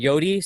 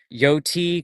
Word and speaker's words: Yoti: When I say it, some people think I'm saying Yodi, so I'm trying to pronounce the T more, but it's like Yoti, Coyote, Coyote.